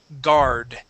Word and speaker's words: guard: good okay um now this word has a u in it but the U is not pronounced the word is guard guard good one more